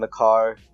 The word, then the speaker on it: Maker: Pronounce that again. McCarr. McCarr. I think that's how you pronounce his real name. Really? Yeah. Oh, it's not Thon Maker? Nope.